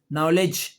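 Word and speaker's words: knowledge: डी डी के बाद जी आ जाए या डी के बाद जे आ जाए। तो दोनों सूरतों में डी साइलेंट हो जाता है।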